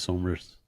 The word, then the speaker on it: Somers: It's pronounced Somers.